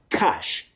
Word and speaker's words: cache: So, for this word, you say cash, just like money.